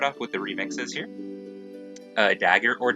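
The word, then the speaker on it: Dagr: Dagger or Dogger, I think her name is actually pronounced like Dogger or something like that.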